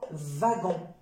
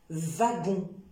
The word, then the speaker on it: wagon: son c'est la lettre W alors W c'est ça dans le sang veut comme wagon wagon d'accord wagon et ça peut donner